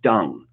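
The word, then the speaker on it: Deng: But how is it useful to have, okay, it D-E-N-G, but it's pronounced dung.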